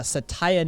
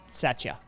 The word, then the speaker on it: Satya: a while um it is at present uh satia nadella um that's who succeeded uh steve ballmer so satya sorry satya i believe is the pronunciation on